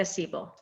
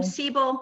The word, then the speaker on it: Seibel: That's how you say it in German, Seibel.